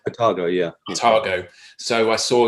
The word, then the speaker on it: Otago: Is it Otago? Is that how you pronounce it? Otago, yeah.